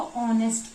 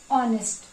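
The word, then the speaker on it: honest: इसको यहां पे एच जो है वो साइलेंट रहता है। इसको बहुत सारे लोग ऑनेस्ट पढ़ते हैं पर इसको ऑनेस्ट पढ़ते हैं। ऑनेस्ट।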